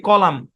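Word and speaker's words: column: একটা শব্দ খেয়াল করেন এখানে এম এন আছে এন টা সাইলেন্ট এই শব্দের উচ্চারণ কি কলাম কলাম বুঝেন এই বিল্ডিং এর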